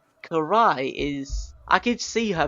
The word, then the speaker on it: Karai: hopefully I'm saying this name correct you are Karai thank you because I don't want to get butchered in the comments section after this like